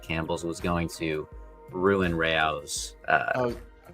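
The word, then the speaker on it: Rao's: The pasta, according to AI, the pasta sauce brand AOS is pronounced Ray O's. Oh, is not pronounced Rose or Rouse.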